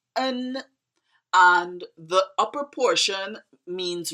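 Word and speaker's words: 恩: It's pronounced en, and the upper portion means reason and the lower portion means heart.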